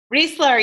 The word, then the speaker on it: Reisler: welcoming Julie rich there how do you say it again Reisler you got it um so Julie is